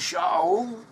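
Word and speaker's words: שאול: The name Saul in Hebrew is pronounced as Shaul.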